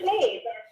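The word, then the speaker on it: Sinéad: Hi, this is Sinead. Sinead? Yeah, Sinead O'Connor. Oh, Sinead. Oh, okay. I thought it was like one syllable.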